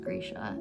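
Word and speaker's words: Grisha: and I'm rereading the Grecia verse series. I just recently learned that it's pronounced Gracia and it's changed my whole entire life.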